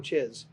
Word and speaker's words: Czyz: It's Czyz. CZYZ if you Google search it. So don't misspell it because bad things come up.